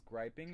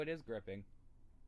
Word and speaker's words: gripping: I'm trying to find if it's I think it's griping. gripping. Okay. Oh no, it is gripping.